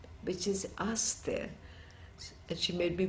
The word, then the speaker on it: Aster: French name which is asked there that she may be pronounced it after her because I didn't know the pronunciation she said and let nobody pronounce it in the English Way know which is different